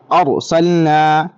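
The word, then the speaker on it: أرسلنا: را کو موٹی آواز سے پڑھنا ہے۔ تو پڑھیں یہاں پر ارسلنا، موٹی آواز سے را کو جو پڑھیں گے تب منہ بھر کر آواز نکالیں گے۔ ارسلنا، اس کا ہجے کیسے کریں گے؟ حمزہ را زبر او، سین لام زبر سل، ارسل، نون الف زبر نا، ارسلنا، صرف را پڑھیں گے تبھی موٹی آواز نکلے گی، ٹھیک ہے۔ آگے دیکھیں،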